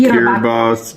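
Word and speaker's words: Kiribati: But, um his channel is called Trainer Tips and he went to Kiraabati. How do you pronounce it? He pronounces it Kiraabos, but I believe on an island.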